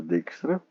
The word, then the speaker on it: Dijkstra: Ele é chamado também Dijkstra, perdoe-me, de duas pilhas, a pronúncia é Dijkstra.